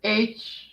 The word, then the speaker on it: Halfpenny: There's no T in it. I know. That's why it's not halfpenny. It's halfpenny. Spell it phonetically. Hotel, Alpha, Papa, Echo, November, Yankee. No, spell how you're pronouncing it. Halfpenny. So you're not saying hate me, you're saying halfpenny. In effect, yes, halfpenny. So you're saying Hapeny. Pretty much, yeah. It's a close approximation.